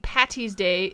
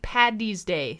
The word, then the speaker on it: Paddy's Day: Patty's Day it's it's never ever that it's st. Paddy's Day paddy with the D is hard happy st.